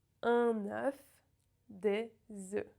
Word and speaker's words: œufs: In the plural you have the closed E and the F is silent. E. Un œuf, des œufs. Un œuf, des œufs.